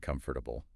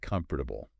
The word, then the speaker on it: comfortable: people stumble over comfortable do you pronounce all four syllables well yeah isn't it comfortable technically yes but you'll notice that when people are just talking they often drop that second syllable you mean like comfortable